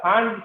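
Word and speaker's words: Pfund: FIR হচ্ছে তখন region, আর সিরিজটা হচ্ছে ফান্ড সিরিজ। তোমরা নোটিস করবা যে এইসব স্পেলিং কিন্তু অনেক সাইলেন্ট লেটার আছে এখানে।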